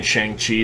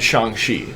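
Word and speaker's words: Shang-Chi: how to pronounce that i've been saying shang chi since i've was introduced to the character uh but probably like the american way kevin feige said shang shi i would say shang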